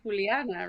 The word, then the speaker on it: Juliana: You also say Juliana, right? So I'm very fine with both pronunciation.